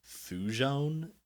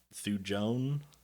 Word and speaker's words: thujone: that is um and I'm not going to pronounce this correctly fujon thujone what'd you just call me t-h-u-j-o-n-e um and